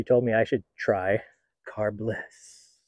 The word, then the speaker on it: Carbliss: me I should try car Bliss you have to say it like that that's one of the